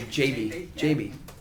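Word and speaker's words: Gyabi: I learned you pronounce his name JB.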